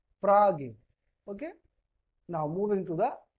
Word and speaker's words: Frage: This Frage, if you want, then this Frage, it can also be pronounced like F-R-A-A and G. Frage.